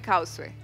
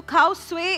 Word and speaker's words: खाउसवे: आज बन रहा है, आज बन रहे हैं खाउसवे। खाउसवे तो खाउसवे इज a right pronunciation, it's नॉट खाउसे। खाउसे नहीं होता, खाउसवे होता है क्योंकि बर्मीज डिश है।